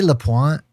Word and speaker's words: Lapointe: I say Lapointe. I don't know why I say it. I feel like it should be fancier, but I think he pronounces it Lapointe.